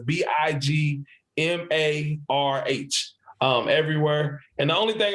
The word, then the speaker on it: Big Marh: Everybody tries to spell it how they sound it, but I put the H at the end because the way my dad says it, he says Big Marh, Marh.